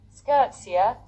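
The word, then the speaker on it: skûtsje: main Mast is down Wikipedia States a SC pronunciation skirtsa frisan for boat is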